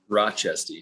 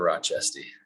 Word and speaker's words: Rochestie: to pronounce your last name maybe you can pronounce it for me now rochester rochester rochester yeah thank you for joining me